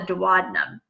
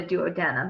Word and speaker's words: duodenum: intestine which is called the duodenum or the duodenum however you want to pronounce it that that oil